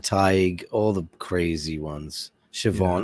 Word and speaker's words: Siobhan: Siobhan, all the names that are spelled with BH, and they're like, "What? How is that a V?" Siobhan.